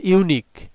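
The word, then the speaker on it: unique: আচ্ছা, এরপরে হিস family is dash ইউনিক। আচ্ছা, এখানে ইউ আছে আমাদের অ্যান হওয়ার কথা, কিন্তু এই ইউ এর উচ্চারণ ইউ এর মতো, ইউ এর উচ্চারণটা ইউ এর মতো যদি হয় তাহলে আমাদের এখানে এ হবে।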